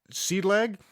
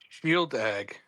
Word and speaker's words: Shieldaig: I have, and God, I forgot if I could pronounce it. Seed lag?